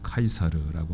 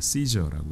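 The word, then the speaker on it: Caesar: 그런데 그 제국의 기초를 놓은 사람은 라틴어 발음대로 읽으면 카이사르라고 하는 사람이고요. 영어 발음으로는 우리가 시저라고 익숙해져 있는 사람이죠.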